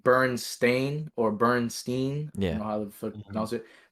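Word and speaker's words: Berenstain: and like Bernstein or Bernstein. I Yeah. don't know how to Mhm. pronounce it, but it's actually stain, like a stain on your clothes. Mm-hmm. So it's I let you photo. Bernstein.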